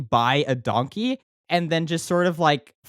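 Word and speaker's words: dankie: Donkey is spelled D-A-N-K-I-E. I think pretty similar to the Dutch word danke, which makes sense because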